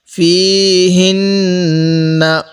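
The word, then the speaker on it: فيهنّ: ফীহিন্না, এই হা উচ্চারণের সময় মুখে হালকা আওয়াজ করব। ফীহিন্না, নাকের বাসি দ্বারা গুণনা করব, কারণ মিমে নুনে তাজদিদ গুণনা করা ওয়াজিব।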